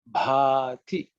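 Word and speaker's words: भाति: So pay attention to the Bha, which you may not, especially people who speak Tamil may ignore, but you have to pay a bit more attention on that.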